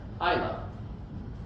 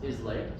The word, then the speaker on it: Islay: west coast of Scotland called Isa it it's not pronounced ISL so let me help you there um Isa is a